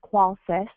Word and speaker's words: Qolsys: stands for systems and it's pronounced just like quality the first first part of quality so it's qualys and we are dedicated